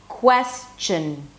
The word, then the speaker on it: question: The second syllable begins with a ch sound, as in chicken, right?